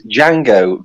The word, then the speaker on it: Django: Spaghetti Westerns yeah well it's Django the D is silent yeah that's it is